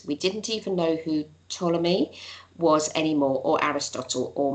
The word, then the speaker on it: Ptolemy: the complicated calculations that, how do you say, is it Ptolemy? I never get his name right. Ptolemy. Ptolemy, thank you. Ptolemy wrote about, and thereby actually drawing up a chart.